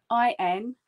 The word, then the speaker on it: intaglio: So intaglio, the word is spelt I-N-T-A-G-L-I-O. It's a silent G, so we pronounce it intaglio.